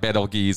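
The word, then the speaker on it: Betelgeuse: Centauri Altair okay now there's four different ways to say this I'm going to say it my preferred way Beetlejuice I know it can be pronounced different ways like betelgee's and things like that acrox aldebaron Pollux speaker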